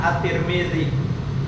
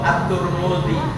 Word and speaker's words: at-Tirmidzi: Artinya ada dalam keterangan kitab Sunan at-Tirmidzi ya atau at-Turmudzi atau at-Tarmidzi ya. Jadi orang membacanya ada yang at-Turmudzi, ada at-Tirmidzi, ada at-Tarmidzi semuanya betul ya.